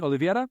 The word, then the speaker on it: Oliveira: the show hello hello I've never heard anyone say my name right before on anything I actually went to olivetta high school so there you go um whoa yeah that's you're nailing it actually ol Middle School